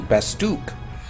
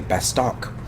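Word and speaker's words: Bastok: The opening movie, the narrator will say Bastook. I know this because I watched the movie not too long ago, and it's like, okay, I've been saying it wrong all these years. I always used to say Bastock, because, I don't know, because that's what it looks like.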